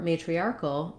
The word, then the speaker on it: matriarchal: So in this word, the main stress is on the arc syllable.